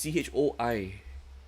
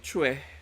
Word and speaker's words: Choi: It's Che and not Choi. Even though it's spelled as CHOI. Chue. Chue. Okay, it's pronounced as Chue.